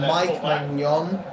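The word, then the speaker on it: Maignan: And Mike Mon, that's how you pronounce his name by the way.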